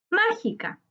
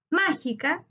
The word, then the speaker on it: mágica: Su sílaba tónica está en dru, en la antepenúltima sílaba.